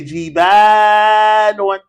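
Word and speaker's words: جبال: Now, since we know the plural, to make the word jabalun plural, it's on the scale fi'alun. And how do we pronounce it, class? Everybody say jibalun.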